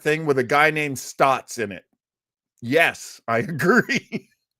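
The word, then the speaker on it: Staats: That's how you say it. Stotts, as if it's just an O.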